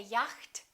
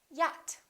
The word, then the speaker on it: yacht: mistake the silence eh we don't say yacht we say yet okay silent d adjust